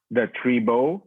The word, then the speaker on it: Tribeaux: My handle is the Tribo. That's spelled with Tribeaux. It's like a French term for like a French e, like a funny term for the tribe in the Yep.